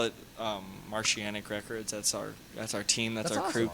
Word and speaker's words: Martianic: Martianic Martianic Records. How do you spell that? That's a. M-A-R-T. Oh man, don't ask me to spell right now. I'm fucking. Faded. IANIC. It's like saying Martian mixed with oceanic.